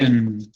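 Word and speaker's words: Aix: pronunciar en francés porque se escribe A-I-X, pero se pronuncia E, es como una especie de una cosa así medio rara. Porque la X en francés no se pronuncia y esas dos vocales representan un sonido medio de E con la boca abierta como para decir una A.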